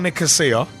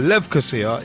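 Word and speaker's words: Lefkosia: You know, let's shift on because in Champions League Group F, Apoel Nicosia, as most pronounce it, Apoel Levkosia is the proper pronunciation.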